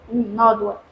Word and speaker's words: nódoa: Na hora, na sua nódoa, 2 blocos de pronúncia, 2 sílabas, nódoa.